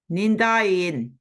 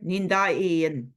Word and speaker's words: Nindain: Magapedon Nindain. So that little glottal stop there. Nindain.